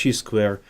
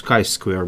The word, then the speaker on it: chi-square: Then this chi-square statistic, sometimes it's called chi-square, sometimes it's called chi-square. Actually, the correct pronunciation is chi-square, but many people use it as say it as a chi-square.